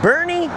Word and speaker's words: Boerne: Some amazingly beautiful buildings here in downtown Bernie spelled like this by the way and seemingly full of statues.